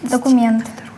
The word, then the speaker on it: документ: Документ. Ударение на букву Е.